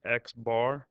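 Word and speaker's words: x̄: Another way to write mean is with an X and a bar over it and that's pronounced Xbar or mean is 61.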